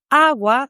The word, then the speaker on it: agua: For instance, awa starts with a strong a because that is the strongest syllable in the word awa.